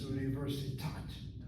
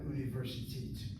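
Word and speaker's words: אוניברסיטת: So the spelling of that word, University of Tel Aviv, is Universitat, not Universitit. The kamatze ending word in the construct form, university, now University of, becomes a patakta, Universitat, University of Tel Aviv, Universitat Tel Aviv.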